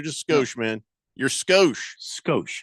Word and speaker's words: Skoshe: I'm spelling it Skoshe. So people know how to say it phonetically if they ever see it on the text line. Skosh. Skosh. But I have the E at the end because it makes the O, instead of Skosh.